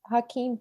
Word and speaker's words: Joaquin: um no it was i think it was hakeem phoenix did i say his name right yeah